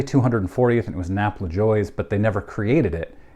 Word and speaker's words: Lajoie: Everybody pronounces it different. I've always said LaJoie.